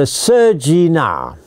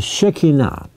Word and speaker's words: Shekinah: I was using the Chinese pronunciation. It's called the Shekinah.